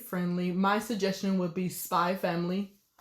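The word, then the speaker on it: Spy × Family: For the ones who are looking for genre that are kid friendly, my suggestion would be Spy Family. Also, the X is not pronounced.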